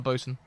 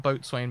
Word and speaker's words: boatswain: you call him a bosun vixen okay yeah ya can't be saying all that boatswain business that's too many syllables how do you think